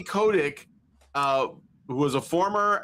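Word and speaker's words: Kotick: Um and we have uh uh Activision Activision former Activision Blizzard CEO Bobby Cotic or Kotic. How do you say it? KODC. Bobby Kodic uh who was a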